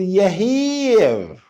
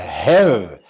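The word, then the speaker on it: Herr: اوعى تغلط وتقول يهير، أزعل منك. ده حرف الها وبعديه ايه وبعديه دبل ار، يبقى قول معايا هر.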